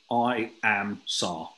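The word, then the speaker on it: IAMSAR: to pronounce this and it is literally i am sar i am search and rescue is the pronunciation well nikki's dropped it's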